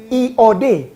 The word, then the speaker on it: yod: Yod, I O D. Bacanya iod. Iod seperti ada Y. Tapi itu I OD. Yod hurufnya I.